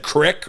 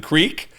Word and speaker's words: creek: out I was never a guy who said cck rather than Creek I uh bucked up against that Trend that